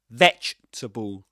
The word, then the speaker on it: vegetable: They actually rhyme, if you think about it. The only difference being the first syllable, veg and comf. But then you got the last 2 syllables are the same, tabul, tabul, in both cases.